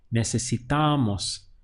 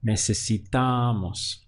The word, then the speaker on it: necesitamos: It's necesitamos. Remember that the stress is happening on the penultimate syllable right before mos. So it would be necesitamos.